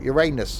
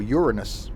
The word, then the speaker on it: Uranus: in there as well uranus we can't talk about that um or uranus as it's probably pronounced supposedly correctly where is this first